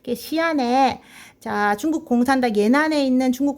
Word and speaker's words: 시안: 그래서 서쪽에 장안이다 해서 서안, 시안, 발음 시안이라고 합니다. 시안에 중국 공산당 예난에 있는 중국 공산당을 포위하기 위해서 시안에 장세량의 동북군이 주둔했다.